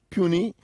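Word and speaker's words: puisne: And then, of course, you have puny. It's spelled in a particular way, so you need to take note.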